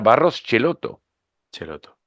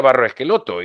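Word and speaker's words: Barros Schelotto: de los barros esquel mundo para ellos era Barros celoto pero el mundo le decía barros esqueloto y nadie lo corregía Aunque para ellos era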